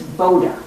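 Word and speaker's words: Buda: this guy Mario Boda it's spelled with a u but it's boater that's and they happen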